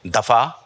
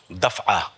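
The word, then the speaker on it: دفعہ: तो 3 चीज़ें हमने आपके सामने पेश की, दफ़ा, किला, जुमा, ये सब गलत है, ये प्रोनाउंसिएशन ही नहीं है। इसका सही तलफ़ुज़ है, सही, मैं सही नहीं कह रहा हूँ, सही तलफ़ुज़ है जुमआ, क़िलआ, दफ़आ।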